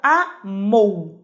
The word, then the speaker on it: amou: Vamos começar pela palavra amou, ó, amou, de tongo.